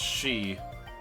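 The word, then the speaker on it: Sidhe: Oh, pronounced she. That's S-I-D-H-E. They're pronounced she, though, S-H-E-E.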